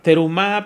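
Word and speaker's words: תרומה: se llama la ofrenda en hebreo se pronuncia terumá pero también se pronuncia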